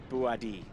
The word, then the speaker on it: Bouhaddi: And yes, it is pronounced Bouhaddi.